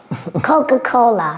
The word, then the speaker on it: Coca-Cola: all right next CA CAA please help us pronounce cocaa Coca-Cola once again Coca-Cola once again cocaa all right